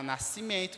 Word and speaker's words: nascimento: letras que fonemas Ok como na palavra Nascimento que tem 10 letras e apenas oito fonemas porque nós temos o s e o c que representa c e o e n que é o sol nasal nasci minto são nasal o n está mostrando na nasalidade do e nascimento e a mesma forma